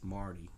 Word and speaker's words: Marty: I'm thinking of Rick and Morty. I think it's Marty? Marty McFly. Oh my gosh, now I remember. Marty McFly. It's Marty, not Morty.